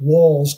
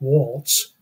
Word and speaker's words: Walz: say that walls and it's pronounced I'm told walls not Walts you know walls is to her as